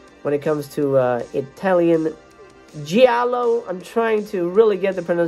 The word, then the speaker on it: giallo: When it comes to Italian giallo, I'm trying to really get the pronunciation right on that one. Giallo. It sounds like jello.